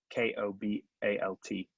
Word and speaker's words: Kobalt: Cobalt spelled with a K, Kobalt.